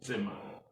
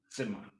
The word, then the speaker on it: Zimmer: Don't say Zimmer. Z. So say Z. T-S. Zimmer. Zimmer. The S is rather pronounced Z. 7 instead of 7. It's not C but Z. And then the Z is pronounced TS. Zimmer.